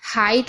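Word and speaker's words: height: H silent रहता है कहीं भी जी एचटी साथ में होगा तो जी एच साइलेंट रहेगा यानी कि उसको नहीं पढ़ा जाएगा तो आप अगर यहां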